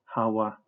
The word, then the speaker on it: הוה: H1933 hawwa as a third person imperfect active form verb is pronounced with three syllables and with a double wi consonant vow consonant vow